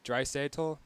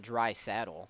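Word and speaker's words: Draisaitl: Dry Satle, something like that. It's not dry saddle. Dry Satle. There's no way his name is dry saddle.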